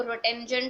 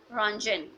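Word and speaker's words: Röntgen: यहाँ पर जो टी आपके पास लिखा हुआ है रॉन्जन के स्पेलिंग में, दिस टी इज साइलेंट, इसको रोटेंजन टाइप इस तरह से कुछ नहीं बोलना। This is Wilhelm रॉन्जन, Wilhelm रॉन्जन।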